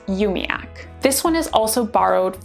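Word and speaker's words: umiaq: is u m i a q which is pronounced umiac this one is also borrowed from the Inuit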